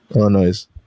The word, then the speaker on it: Illinois: tell me it's not Illinois, it's Illinois. So that's a silent? Yeah, that's the silent. Huh, I'm gonna ask my boy Noah. He's from Illinois. Illinois. Illinois.